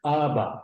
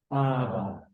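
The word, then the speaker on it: Abba: exhale on the inhale the two syllables are ABA try that ABA now that's an old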